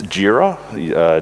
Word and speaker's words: Jira: it's atlassian and it's jira jira is from the Japanese Gojira which is Godzilla which is like bugzilla